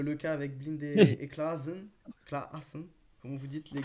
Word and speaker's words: Klaassen: champion de la prononciation, donc je préfère. Oui, c'est vrai. Ouais. Vas-y, comment tu dis? Redis. Klaassen. Klaassen.